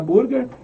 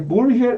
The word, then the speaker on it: Burger: Apesar de escrever Burger, é Burger que se pronuncia, né, no alemão.